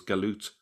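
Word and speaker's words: جالوت: written as jalut and it's pronounced in some um Arab countries as jalut but it's still pronounced as galute in places like Egypt um so let's have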